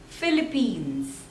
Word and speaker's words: Philippines: Peru Peru next is Philippines Philippines so there are two syllables and you have to stress on the second one Philly beans Philippines Philippines